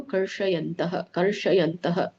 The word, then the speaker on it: ಕರ್ಷಯಂತಃ: ಕರ್ಷಯಂತಹ, ಇಲ್ಲಿನೂ ಕೂಡ ಇದರಲ್ಲಿ ಇದು ಸ್ವಲ್ಪ ಈ ಶ ಬರೋದಿಲ್ಲ. ಇದು ನೀವು ಮತ್ತೆ ರೋಲ್ ಮಾಡಿ ಹೇಳು. ದೊಡ್ಡ ಶ ಬರುತ್ತೆ ಇದು. ಕರ್ಷಯಂತಹ ರೋಲ್ ಮಾಡಿ ಹೇಳ್ಬೇಕು, ಅದು ಶ ಬರೋದಿಲ್ಲ.